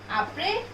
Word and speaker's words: après: Consonant in the last we never pronounce, especially S.